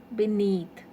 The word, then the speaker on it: beneath: above then beneath okay beneath so b is weak prefix so the stress is on need beneath and not only these